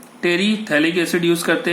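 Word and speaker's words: terephthalic: टेरीथैलिक acid use करते हैं. पिथैलिक नहीं बोलेंगे, PS साइलेंट होता है.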